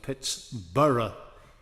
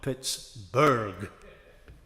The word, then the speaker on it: Pittsburgh: And she's also was always very eligible of the pronunciation of Pitts-burra, not Pitts-burg.